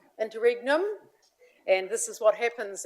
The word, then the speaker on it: Interregnum: Internum. Interregnum and this is what happens as we leave.